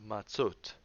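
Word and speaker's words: מַצּוֹת: So this word is pronounced matzot. And this word here is pronounced mitzvot. Here it's vo, and here it's o. So vo and o.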